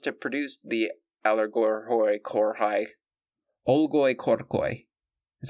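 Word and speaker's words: olgoi-khorkhoi: it I promised to produce the aloro corai oloy corcoy that's how it's pronounced gang if we chance to cross its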